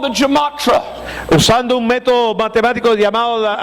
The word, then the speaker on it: gematria: nombre de Nerón, using a method called the gematria. usando un método matemático llamado, how do you pronounce it?